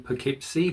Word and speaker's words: Poughkeepsie: they did live in Poughkeepsie, but it is pronounced Poughkeepsie, not Poughkeepsie. It's Poughkeepsie.